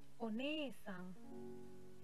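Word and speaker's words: お姉さん: Tapi untuk orang lain one-sang. E-nya panjang ya minasang.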